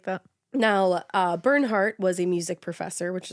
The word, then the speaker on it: Bernhardt: Bernie has a hard name to say because his real name is Bernhardt. Bernhardt. I always want to pronounce the D like Bernhard.